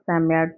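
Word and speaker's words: Psammead: ये जो वर्ड है इसका जो प्रोनाउंसिएशन है वो सेकंड लाइन में दिया है चैप्टर की, जिसे आप सैम्यार्ड कहेंगे.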